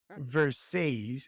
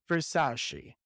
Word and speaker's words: Versace: with your name and why do you pronounce it verses and not Versace so for those who